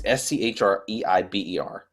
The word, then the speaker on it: Schreiber: I think that's pronounced. It's Schreiber.